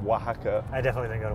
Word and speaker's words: Wahaca: We have a chain of Mexican restaurants called Oaxaca.